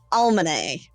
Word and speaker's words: Almine: Name, but with an L in front of it. Almane.